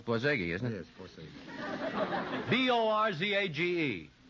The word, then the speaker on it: Borzage: Frank Borzage, maybe that's the way it's pronounced. Borzage. Borzage. I think I'm wrong, too. It's Borzage, isn't it?